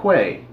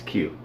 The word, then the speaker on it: queue: By the way, Darian, not Quay. Who pronounces it Quay? It's Q.